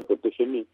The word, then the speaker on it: ProtegeM: aplicación que es completamente gratuita, que se llama ProtegeM, es Prote y la letra G y la letra M. Se pronuncia ProtegeM, escribe ProtegeM, y que es completamente gratuita y